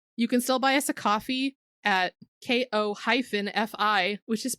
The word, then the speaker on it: Ko-fi: you can still buy us a coffee at ko-fi, which is pronounced Ko-fi.